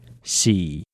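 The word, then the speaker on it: 四: Moving on, the number 3 is pronounced sa, as in sa e lang for 3 people. The number 4 is xi, used in the phrase xi e lang to mean 4 people.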